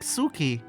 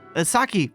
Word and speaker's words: Saki: What if she ended up like Suki? Saki. Why do I say Suki? Fuck's sake. Did I sometimes also say her name wrong like that?